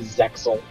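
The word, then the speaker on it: Zexal: Can you pronounce it? People say Zeal. People say Zeal, but it's normally Zexel.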